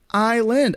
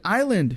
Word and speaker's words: island: I say it again it's like island island M it's it's two syllables Island right anyway but you